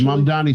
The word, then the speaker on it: Mamdani: Here it is, Mamdani song.